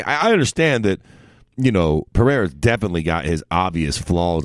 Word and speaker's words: Pereira: Pereira, there we go. I'm fucking notorious for fucking that shit. Like, why is he fighting him, man? Like, it's not like I understand that, you know, Pereira's definitely got his obvious flaws and weaknesses.